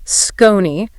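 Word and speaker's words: Skonni: I want to talk about our other sponsor today, Scrutiny. That's pronounced S-K-O-N-N-I.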